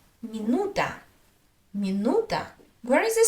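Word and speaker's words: минута: Let's look at another word, minuta, minuta, minuta.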